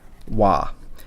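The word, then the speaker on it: は: And it's similar to, I mentioned in a couple videos back that the subject marker or particle wa is written as ha, but it's pronounced wa.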